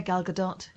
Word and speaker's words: Gal Gadot: Yeah, Gal Gadot.